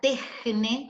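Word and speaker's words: τέχνη: Entonces, tejne, la primera se pronuncia tejne, como una J donde está la CH. Pueden exponerle la J a ustedes.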